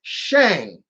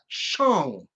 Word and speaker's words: Shang: that and it's it's shang chi you got people at nerdists and all of them saying i'm like where are you seeing a o in that name it's shang not chong it's like what the